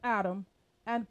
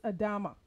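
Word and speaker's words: אדמה: adam point five remember the hebrew word for ground is adama for which adam was named after the female connotation of human being is adama as well however it is spelled with an h at the end spelled a d a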